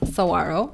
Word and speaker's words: Saguaro: correctly okay great so my last name is pronounced saguaro mhm it is not my last name it's